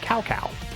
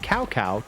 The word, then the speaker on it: Cao Cao: Like, for the longest time, the general of the Wei forces was called Cao Cao, because his name is spelled C-A-O-C-A-O. And then, again, in Dynasty Warriors 7, when they changed a lot of things, they also changed a lot of the pronunciation. And I'm inclined to believe they tried to make it more accurate to Chinese. And so he went from being called Cao Cao to Cao Cao.